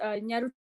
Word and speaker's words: Nyarutarama: I hope I said that right, and I can't pronounce it, so I'm going to let my husband pronounce it. Nyarutarama.